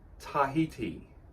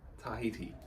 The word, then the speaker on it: Tahiti: poll last week and it's philodendron Tahiti Tahiti I was pronouncing it all other ways so thank you very